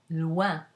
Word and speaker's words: loin: If the OI is followed by an N, then you get a nasal, ouin, as in loin.